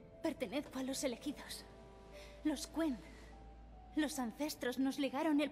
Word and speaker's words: Quen: Los Quen, que no los Ken.